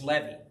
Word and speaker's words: Levi: And I've heard Jewish people pronounce that name. And it's Levy.